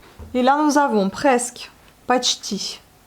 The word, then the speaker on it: почти: Et là, nous avons presque, почти. Vous voyez, le O n'est pas accentué, on le prononce comme le A.